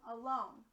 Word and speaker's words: alone: First syllable, that's going to be a schwa represented by the letter A. Remember, a schwa is when the vowel doesn't sound like its normal short or long sound. Ready? Second syllable, lone. O. It's going to be a long O.